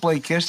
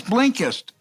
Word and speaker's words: Blinkist: vanish and blink blinkist I love Blake kiss and I don't know why I draw a blank sometimes when I try to pronounce the name it's blinkist it's me not them